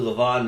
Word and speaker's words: Le'Veon: you say it Le'Veon I thought it was Le'Veon too but it's actually leavon ma leavon okay got it he he